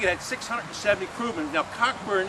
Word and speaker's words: Cockburn: had 670 kman now cockburn in English it was pronounced Coburn for obvious reasons okay but he was